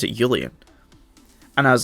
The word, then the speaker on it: Julian: So it would make sense if they pronounced it Julian, because in German, the J is pronounced as a Y.